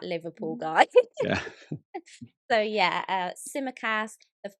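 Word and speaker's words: Tsimikas: name on everyone's lips at the moment is simmer cass well well said well well pronounced thank you literally i did a live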